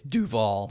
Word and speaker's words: Duvall: be totally there could be and some people pronounce it differently so but it is i mean it's it's duval dewfall so i won i won the book